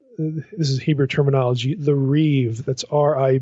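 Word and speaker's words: ריב: So, anyway, on on page 37, she gets into the what what this is Hebrew terminology, the reev, that's ri i, but you'd pronounce it reeve like it's ri i v.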